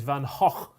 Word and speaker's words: Van Gogh: And by the way, the Dutch pronunciation is Van Gogh. So we're both wrong.